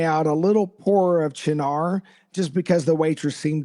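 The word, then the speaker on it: Cynar: rye um combined with vermouth and something called sinar. So John before you talk about how you constructed this tell our listeners what in the world is sinar.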